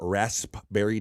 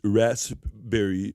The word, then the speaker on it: raspberry: purpose hello it's a do you know it's Rasberry you have to pronounce the P Bobby Nick right that's right the PE Let's see